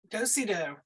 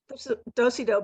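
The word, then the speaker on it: dos-à-dos: this was a Dosa dos is that he pronounce it dosido dosido um dosey doe book so it you open it and then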